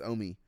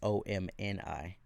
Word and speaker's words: Omi: Yeah, it's Omi. Omi? Yeah, Omi. So the N is silent? Huh? The N is silent? There is no N. Oh, is it OMI? Yeah, OMI. I thought it was OMNI.